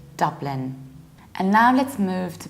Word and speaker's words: Dublin: pronounce this so this standard British pronunciation is Dublin with the same sound that you have London Dublin however don't be